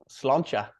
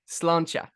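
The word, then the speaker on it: sláinte: me that how do you say it again slancha slancha pretty much saying thank you okay brilliant nailed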